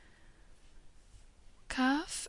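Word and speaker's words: كاف: Kaf and Lam are easy to pronounce, K as in kitten, Lam as in lamb, for example.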